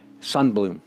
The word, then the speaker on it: Sundblom: pronounced his name but having lived among the Swedes for many years I think he would pronounce his name son Blum okay now we can